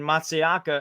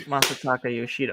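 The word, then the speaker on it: Masataka Yoshida: shooting a monster taco no it's Masa Taco Yoshida okay so Yoshida makes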